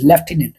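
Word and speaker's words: Lieutenant: उसमें आती है स्पेलिंग इसको क्या बोलते हैं लेफ्टिनेंट और स्पेलिंग क्या होगी एल आई इ यू टी इ एन ए एन टी लटिनेंट यानी लेफ्टिनेंट बोलते हैं इसकी स्पेलिंग बहुत बार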